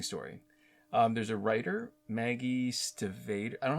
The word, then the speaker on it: Stiefvater: There's a writer, Maggie Stivater. I don't know how to pronounce her name. It's Stiefvater.